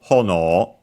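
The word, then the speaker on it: 炎: So literally, hono, accented on the ho, so the first syllable, hono, literally would be ear of fire.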